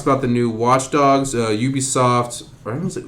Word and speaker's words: Ubisoft: Says that it is pronounced as Ubisoft. The company's president says it's pronounced Ubisoft. All right, guys. Not Ubisoft.